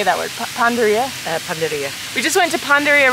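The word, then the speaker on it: panadería: Panaderia.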